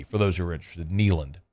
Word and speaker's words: Kneeland: those who are interested neand like a knee like your knee K NE e l a n d uh just another play